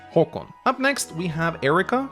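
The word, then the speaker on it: Haakon: That is actually what our crown prince is called, although he spells his name with two A's, Håkon, but it is still pronounced Håkon.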